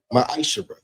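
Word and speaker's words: מעשר: Means 10th in Hebrew and is pronounced ma'asher.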